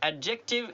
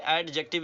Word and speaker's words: adjective: एडजेक्टिव, एडजेक्टिव ये pronunciation इसका समझ लें, एडजेक्टिव नहीं है, ये एडजेक्टिव है।